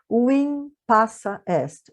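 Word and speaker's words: vim passa est: Embora apareça um V aqui, a gente pronuncia como U, tá? Win passa est, ou win passa est, para emendar tudo aqui.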